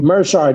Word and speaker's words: Meerschaert: Meerschaert.